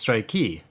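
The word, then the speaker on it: ストライキ: But if you're talking about a work strike, it's strikey, which is really cute.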